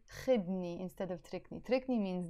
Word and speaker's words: خدني: You drop the u sound and it becomes خدني, خدني, take me.